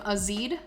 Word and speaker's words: azide: a chemical reaction sodium azide or azide i've heard it pronounced both ways is nan3 and it's